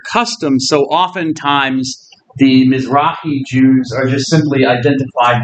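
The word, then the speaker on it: Mizrahi: called the misi Jews sometimes spelled a it's pronounced mrai so sometimes I'll have to C but mrai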